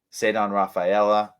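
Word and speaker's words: Ceddanne Rafaela: uh the prospect whose name I can never remember how to pronounce that you love said on raphaela said on Rafaela yes thank you 294 batting average she's been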